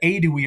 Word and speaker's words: Aedui: So here we have the H, the old-fashioned sort of way of writing it, but usually it's just the aedui is how you pronounce that, right?